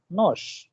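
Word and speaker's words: нож: ही लिखते हैं नोश, knows ends with r, but the sound which comes as a pronunciation is sh, nosh.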